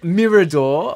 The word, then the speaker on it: Mirador: for the uninitiated, Mirador, obviously, Wealth. Yep. That is the correct pronunciation.